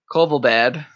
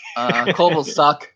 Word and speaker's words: Kovalchuk: But then they decided to get a little bit older and sign Kovalbad. Kovalchuk. Kovalchuk. That's how you pronounce it. Yeah, Kovalchuk would be the correct pronunciation.